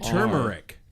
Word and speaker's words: turmeric: spell that what about turmeric too t turmeric turmeric turmer turmeric turmeric it's like how people say February it's February Dum word David answer